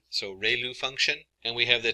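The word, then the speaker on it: ReLU: we have the um rayu it's pronounced like Ray the ray of from the Sun and L like a name so Ru function and we have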